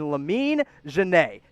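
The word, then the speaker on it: Lamine Diane: the indiana pacers take my sleeper pick of this entire draft in lamine jenae yes that's how you pronounce that name i know it doesn't look like it but i promise it is a kid out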